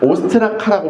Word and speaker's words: 오스트라카: 오스트 오스트라카라고 불립니다. 오스트라카라고 불리는데 이게 뭐냐면 깨어진 토기에 적는 방식 깨어진 조각을 오스타 오스트라카 발음이 요렇죠. 오스트라카라고 부릅니다.